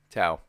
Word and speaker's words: Tso: How is the proper way to say TSO? Tao. It's Tao? General Tao.